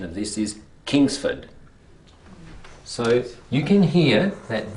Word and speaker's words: Kingsford: The correct pronunciation of this is Kingsford.